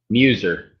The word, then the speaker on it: Muzer: Muser.